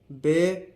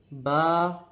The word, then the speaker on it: ب: لہجے میں ادا کریں، اردو تلفظ سے پرہیز کریں، یعنی بے، تے، سے، ہے، خے، توے، زویں وغیرہ ہرگز نہ پڑھیں، بلکہ با، تا، سا، حا، خو، تو، زو پڑھیں۔ ان 29 حروف میں